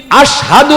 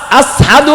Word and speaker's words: আশহাদু: ওই যে জিহ্বার মধ্যে পেরেক মারছিল উমাইয়া, এই কারণে জিহ্বা দিয়া শিন উচ্চারণ করতে পারেন না, একটু মুখে বাজে, সিন হয় সিন, আশহাদু হয় না, আসহাদু হয়।